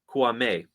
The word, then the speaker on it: Kouamé: club has acquired midfielder raning I'm sorry Roman kuame got to get the pronunciation right it's on the guide there uh